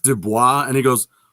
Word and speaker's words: Dubois: look isn't it pronounced dubois and he goes well that's the french pronunciation i said no that